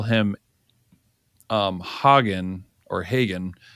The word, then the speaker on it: Hagen: But if you want to call him Hagen or Hagen, I have been told by Guatemalans that it's not the way you're pronouncing it. It's the other way, like you say, hey, like what horses eat.